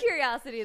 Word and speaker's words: Curiocity: Oh, is that how it's pronounced? Yeah. I was like, I think it's Curiocity. Yeah. You know, it is Curiocity, though.